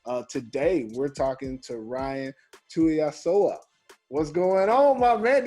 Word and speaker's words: Tuiasoa: Today, we're talking to Ryan Tuiasoa. What's going on, my man? Did I get it right? That's it, right? Hey, you got it right, man. Ryan Tuiasoa, man.